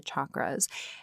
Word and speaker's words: chakras: each one of the chakras now I will say right off the bat I do pronounce them chakras like chalk or chaturanga um that's my understanding